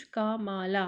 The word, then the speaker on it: Kamala: पे बताया है कि Harris first name is pronounced कामाला, है ना, लेकिन इनका क्या कोमाला, कोमाला यहाँ पे लिखा हुआ है लाइक द पंक्चुएशन मार्क।